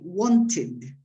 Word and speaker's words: wanted: Finally, the pronunciation of ed as id. This is the easiest group because it's the verbs that end in T or D. So, in this case, we say wanted.